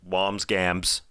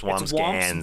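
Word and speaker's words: Wambsgans: Yeah, I said Wamsgams. It's Wamsgans. Wamsburger. Oh, is it? Okay. I think, no, there's an N or an M. It's hard to say. It's just two syllables.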